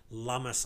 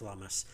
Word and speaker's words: Lummis: says pro-crypto Senator Cynthia Lummis, I think is how it's pronounced. I could be wrong, and correct me, but I think it's Lummis.